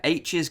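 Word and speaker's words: Aech: the virtual world but his best friend in the the book is called H and it's about a eech as in pronounce it as H but basically H has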